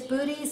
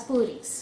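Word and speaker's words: Boötes: That's booties. I was thinking okay. Arrow. Oh. Booties. B-O-O-T-E-S. Okay? If you want to pronounce them different, be my guest.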